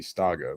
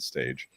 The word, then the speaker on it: Stage: Yeah, that's how I remember his proper pronunciation, because I thought it would be Staga, but it's the Dane. They pronounce it stage.